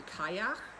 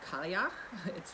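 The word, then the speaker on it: Cailleach: It can be Kalyak, it can be Callieach.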